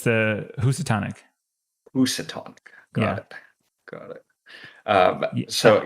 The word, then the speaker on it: Housatonic: So it's me with the one I can't pronounce. The one that you can't. What did you say it was, Eric? It's the Housatonic. Housatonic. Got it. I So I erroneously called it the Housatonic on stream, and my wife looked at me